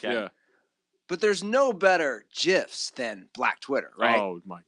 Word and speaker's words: GIF: graphic yeah but the the guy who invented it said it's it's a soft G and I go off gin and giraffe that's what I go